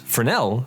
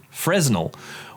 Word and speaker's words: Fresnel: it fresnel lenses the fresnel lens pronounced fresnel not fresnel was invented by French